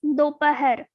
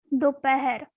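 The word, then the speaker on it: दोपहर: Afternoon means dopahar, dopahar, dopahar.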